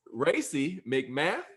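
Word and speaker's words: Racey McMath: sixth round of course um so right race racy mcmath is that how you say it it is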